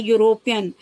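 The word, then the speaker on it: European: तो यहाँ पर देखिए ई साइलेंट हो गया है, ई का उच्चारण नहीं निकल लग रहा है, यहाँ पर यू का उपयोग हो रहा है, और अंग्रेजी प्रोनंसिएशन में यो करके होता है यूरोपियन, तो यू मीन्स वाई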